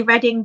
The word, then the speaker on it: Reading: Reading is in the place.